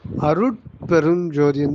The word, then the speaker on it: அருட்பெருஞ்ஜோதி: அம்மா வந்தனம் அருட்பெருஞ்ஜோதி அப்படின்னு உச்சரிக்க கூடாதும்மா அருட்பெருஞ்ஜோதின்னு தான் உச்சரிக்கணும் அருட்பெருஞ்ஜோதியை பிரிச்சா நீங்க சொன்ன மாதிரி அருள் பெரும் ஜோதி அருள் பெரும் ஜோதி இந்த மூன்று வார்த்தைகளும் இணைக்கப்பட்ட ஒன்றுதான் அருட்பெருஞ்ஜோதி அந்த தமிழ்ல வந்து சில